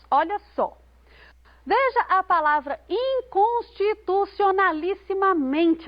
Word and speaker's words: inconstitucionalissimamente: Mas nós só podemos encontrar a sílaba tônica próxima do final dessa palavra. Inconstitucionalissimamente é o men a sílaba tônica. O men é a penúltima sílaba dessa... Não, é a penúltima sílaba dessa palavra.